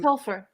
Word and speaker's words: Topher: I don't know how you say it. To Hilfer, Tulfer. I'm sorry if I'm not saying that Topher? incorrectly. Tolfer, maybe. Yeah, it's I'm Topher.